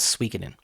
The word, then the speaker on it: Suikoden: you talking about I'm talking about sooden and like s u i k o d n I was like yeah and they're like that's called swen in I'm like really oh is that really how you say it anyway but my